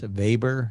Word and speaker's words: Weber: it's pronounced something max weber it's like a german pronunciation of the w because he was german and so on okay